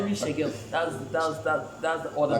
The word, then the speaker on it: Xegun: But the last letter you don't say it.